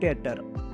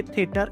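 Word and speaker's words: Theater: Don't say थिएटर, इट्स टेटर, थिएटर, थेमा। Just remember दैट। सो टी एंड एच का वी कैन say pronunciation थ नहीं है, दैट is same like simple ट। एच is silent here, सो ट ही बोलोगे आप, ठीक है।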